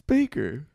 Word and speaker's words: Bakker: dad's name is Mitch Baker, And as a roast, people would call him bitch maker. I thought it was Bakker. No, it's Baker. What's with the double K's? It's the Dutch spelling.